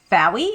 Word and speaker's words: Faoi: So if um you guys aren't aware, my name is Fey. It rhymes with wow.